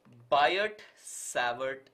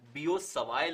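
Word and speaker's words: Biot–Savart: field is governed by buyer savvert law okay although the correct pronunciation for this is biosavay law but we can skip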